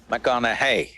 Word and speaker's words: McConaughey: McConaughey. Rhymes with what would Madonna say?